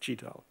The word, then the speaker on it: GDAL: object oriented, so that he always pronounced it geographical object oriented data abstraction library.